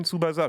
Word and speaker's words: Tsubasa: Donc voilà, on va me dire, ok, ça se prononce Captain Tsubasa, j'en ai rien à foutre.